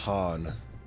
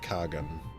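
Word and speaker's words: Khagan: got to remember that it's pronounced Han not Kagan in this place in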